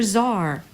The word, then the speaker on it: czar: with a silent B C is for zar the fascinating Czar is secretly part check D is for Djibouti